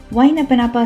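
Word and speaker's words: Waiʻānapanapa: वाइनपनापा state park सबसे पहले एक क्विक चिप। इसको प्रोनाउंस कैसे करते हैं? इट इज लाइक वाई ना प ना प थोड़ा ट्रिकी है लेकिन वंस यू से इट मजा आ जाता है।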